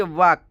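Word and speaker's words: walk: है डब्लू एल के वाक डब्लू एल के वाक देखिए दोस्तों यहां पर एल साइलेंट है इसका मतलब होता है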